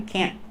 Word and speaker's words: can't: go no it's I can't go we use a stop te put the tongue up and stop the air can't like yes yeah yeah